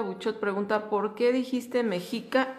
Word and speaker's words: Mexica: De hecho, si voy a decirlo con toda propiedad es mexic con dos saltillos.